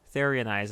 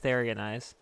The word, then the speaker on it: Therionize: Therionize, I mean. That's how you say it, Therionize.